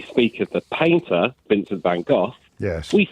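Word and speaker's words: Van Gogh: got three syllables uh whereas van go go go just sounds wrong doesn't it a fantastic artist Goff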